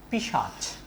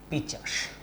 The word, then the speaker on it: পিশাচ: দেখো উদাহরণ লিখছি, পিশাচ, এই শব্দটাকে অনেকে উচ্চারণ করে থাকেন পিচাস।